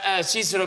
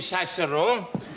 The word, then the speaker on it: Cicero: Correctly pronounced Cicero, we don't say Cicero.